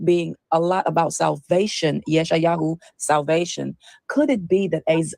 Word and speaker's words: Yeshayahu: The funny thing about the name Isaiah is many people don't know that the true Hebrew pronunciation of Isaiah is Yeshayah or Yeshayahu.